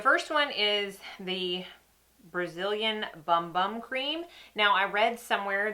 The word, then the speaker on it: Bum Bum: The first one is the Brazilian Bum Bum Cream. Now, I read somewhere that it's actually pronounced boom boom, that's how you say it. That's how the Brazilians say it.